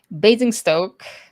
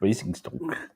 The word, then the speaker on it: Basingstoke: Basingstoke Basingstoke. is Oh, sorry, I pronounced incorrect. Basingstoke.